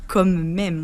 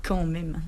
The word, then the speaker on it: quand même: Le son est assez similaire, mais effectivement on ne dit pas comme même, on dit quand même.